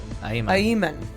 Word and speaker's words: Ayman: Ayman. Ayman. Pronunciation is on the E. Ayman.